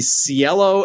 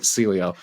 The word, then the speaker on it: Cielo: So it's the Cielo X1. Did I do it right? Great. Awesome. Because I was calling it Celio.